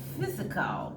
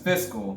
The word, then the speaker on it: fiscal: It was physical. Yes, fiscal. She was saying physical, but she meant to say fiscal. Oh, you said it again. It's fiscal. Fiscal. Not physical. Duh. Yeah, exactly. One less syllable.